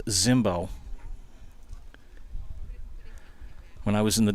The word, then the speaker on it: Zimbo: b o it's pronounced Zimbo when I was in The Dugout getting the the lineups he said it's you know when you see that name with the Z It's pronounced Zimbo so I made sure